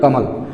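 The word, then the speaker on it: Kamal: इसको ए को जो लास्ट वाला अक्षर सिंगल है उसमें सिर्फ अ की मात्रा है तो ए को साइलेंट कर देते हैं, ठीक, ए को साइलेंट कर देते हैं, तो कमल हो गया।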